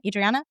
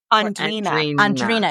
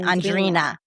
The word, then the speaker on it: Andrina: Is that how you say her name? Adriana? Andrina. Excuse me. Andrina.